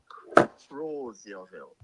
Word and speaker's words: Crozierville: The correct pronunciation is Crozierville.